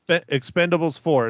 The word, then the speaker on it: Expend4bles: that's right instead of an A but it's Expendables for is how I am pronouncing it if you have some time to